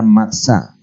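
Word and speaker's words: מצא: que desea lo que significa la palabra hebrea matsa o sea que lo que está diciendo la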